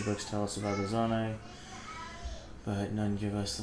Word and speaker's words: Zonai: I'm impressed you got the name pronunciation first time immediately. I called it Zoni at first, which is ironically the